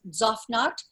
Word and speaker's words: Tzofnat: first name is pronounced zofnaut the tz is like pizza we don't say pizza